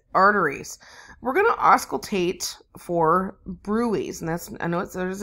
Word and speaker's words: bruit: right for carotid arteries we're gonna auscultate for brew ease and that's I know there's a DT in there but then is not pronounced as bruit you know we have them